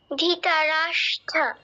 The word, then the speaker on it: ধৃতরাষ্ট্র: আছে তুমি বলো একবার ধৃতরাষ্ট্র না ধি নয় ধৃ বলো ধৃতরাষ্ট্র ধৃতরাষ্ট্র হ্যাঁ কিছুটা হয়েছে একটু ভুল আছে দেখো স ট র স ট র যুক্ত হয়েছে তাহলে কি হবে স্ট্র ধৃতরাষ্ট্র বলো ধীতা হ্যাঁ এবার পারফেক্ট আচ্ছা